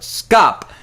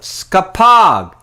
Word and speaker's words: skapog: corrected me and said you just don't call it scop you call it skapog oh my goodness which is spelled the same way the aug i bet